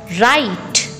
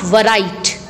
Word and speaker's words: write: You will read like this. WRITE, right, not varight. Right. W is silent here, children.